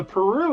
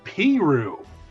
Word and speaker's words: Peru: a Chile Indiana and you'd think there's a Peru Indiana but it's not it's Peru I'm like you guys actively want that to